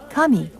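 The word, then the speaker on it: 神: The character Shin or Jin can also be pronounced Kami, meaning God, as for example in the name of our family in Kyushu, Kamikawa, or River of God.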